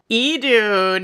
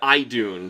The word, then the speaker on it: Idun: Edun. Edun. Yeah, not how I had pronounced it for both of my playthroughs of Shinmagami Tensei. Idun. It was Edun. I said Ion for some reason.